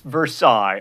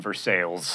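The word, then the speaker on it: Versailles: way not an accessory it's versailes unless you're in Kentucky or Indiana in which case you were in for sales and speaking of the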